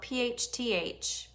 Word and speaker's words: phthalates: You will not find phthalates, which actually is spelled PHTHALATES. Okay, but it's pronounced phthalates.